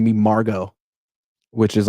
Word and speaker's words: Margot: It's kind of I'm nothing against the name Margot, but it's like, I can't even spell that. I don't like, M-A-R, silent T's. Silent T.